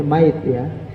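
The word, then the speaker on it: ميت: Bacanya mait, tulisannya maitun, hati yang mati, bukan qalbun mayyit.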